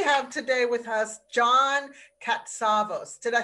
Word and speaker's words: Katsavos: isabelle and we have today with us john katsavos did i say that correctly katzabos yes you did how do you say it